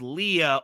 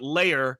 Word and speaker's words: Leia: beholder like I mean Princess Leia is pronounced Princess Leah only by General dodonna in A New Hope uh you know Billy Williams calls it layer you know it's just